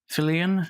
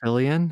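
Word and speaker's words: Fillion: Fillian. Fillian, I think it is.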